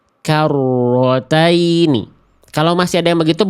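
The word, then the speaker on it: كَرَّتَيْنِ: Karrotaini karrotaini. Siapa yang masih baca rnya begitu? Karrataini.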